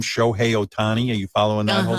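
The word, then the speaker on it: Ohtani: would love to talk about which is the Otani story so this this not be good so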